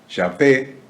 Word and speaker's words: Yahvé: en la República Argentina, lo pronunciaba como Yahvé, Yahvé, con B corte, con acento en la E.